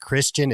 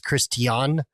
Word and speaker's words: Christian: It sounds so weird saying his name, because they make it very important to, like, his name is not pronounced Christian, it's Christian. I think there's a reason for that I'm gonna say once you finish revealing what's about to happen.